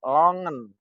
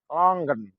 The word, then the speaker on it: longan: tulis Longan tapi dibaca longen longgen longgen Dibaca longen ditulis Longan dibaca longgen longgen jadi longgen longgen itu artinya lengkeng tulisannya Longan diucapkan longgen longgen Ya tentu ini butuh